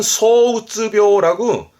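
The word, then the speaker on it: 躁鬱病: 발음은 소우쯔묘라고 조울병입니다.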